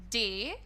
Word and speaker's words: data: The pronunciation, the appropriate and the correct pronunciation is data. You have to make it sound like a day and ta.